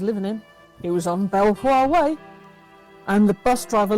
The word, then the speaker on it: Belvoir: It was on Belvoir Way, and the bus driver looked at me like I'd gone bonkers. But it's spelt Belvoir. I'm sorry, that's spelt Belvoir. No, it's Beaver.